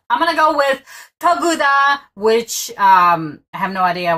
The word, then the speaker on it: Тағы да: So this, see this letter? Without this making it an F, this in Russian would be G. Oh. And this, that's like a lowercase B to you guys in an L or an I. This is actually one letter. And it's pronounced as U.